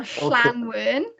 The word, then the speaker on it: Llanwern: So a double L is a sound. So Llanwern. Okay, Llanwern.